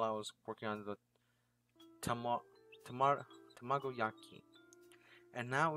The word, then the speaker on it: tamagoyaki: Once that's finished, I start making the spinach tamagosaki. I think that's pretty good. Tamagosaki. Sorry, chicken. Let me try to pronounce this. Tamagoyaki.